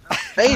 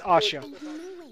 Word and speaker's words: Asha: Asia. Ow. Actually, it's pronounced. I know which one they're talking about, Jamie. It's Asha. Put an H in there.